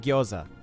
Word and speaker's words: gyoza: that they wouldn't have their english va still pronounce it gyoza that's not that's not